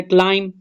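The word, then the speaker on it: climb: को अंडरलाइन करना है दूसरा वर्ड है क्लाइम क्लाइम में बी साइलेंट है बी को न करना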